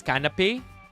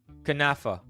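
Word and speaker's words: Knafeh: Or is it it's canapé? Is that how you say it? Canapé? For real? Kanafa. We almost mispronounced one.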